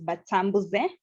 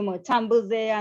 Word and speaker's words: Batambuze: our surname, which is Batambuze. And I'm known more by because we went by because most people mispronounce our name. Someone will call you Motambuze, another will say Batambuze.